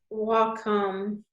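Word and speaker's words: Wacom: I do want to recommend as well the walkom pen this little deal oh yeah would you spell that one more time I didn't get it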